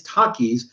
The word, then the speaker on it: Takis: like Matt didn't know how you're supposed to pronounce it it's Takis because takis are like taquitos and what taquita or